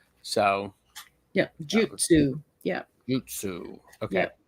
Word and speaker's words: jutsu: Jutsu. Okay. Yeah. Think of that like J-Y-U, Jew, Yeah. almost like Jew, like Jewish, but not exactly.